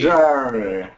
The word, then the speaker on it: Jerry: Alexi, be careful with the R. Jerry. Jerry. Good. It's almost like an air like uh berry and cherry. And airy like that.